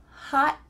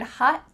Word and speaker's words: hot: Did you notice something about the word hot? What happened to that final letter? Well, we have a theme here. It's gone. Your tongue is at the top of your mouth. You're going to say hot. But instead of letting the air through, your tongue just sticks there.